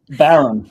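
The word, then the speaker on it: bodhrán: We just talked about that last week on the show with Steven Seidenberg, who was explaining to us how it should be pronounced. Bowron.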